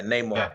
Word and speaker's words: Namor: Is it Namor? Yeah, Namor. Pronounce it.